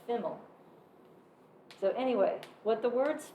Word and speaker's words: FIML: what people say FIML, F-I-M-L, as an acronym pronounced FIML.